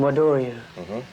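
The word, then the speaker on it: Wado-ryu: It's called Wado, or they pronounce it in Japan, Wadoryu.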